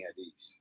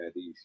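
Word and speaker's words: Haddish: other one with Tiffany hadish I really want to be on one Tiffany hadish is that how you say your name yeah Tiffany hadish yeah Hades I thought it was hadish at least maybe that's just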